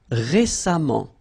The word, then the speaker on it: récemment: So as I told you, even if you write it E-M-M-E-N-T, phonetically it goes like amant, patiemment. All right. Récent, same rule, récemment, récemment, récemment.